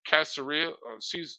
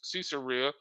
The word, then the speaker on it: Caesarea: during the siege of casseria caesarea I mispronounced it's in um Jerusalem